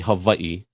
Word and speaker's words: Hawaii: actually you said it right so it's actually Havi hav so in Hawaii in Hawaiian language we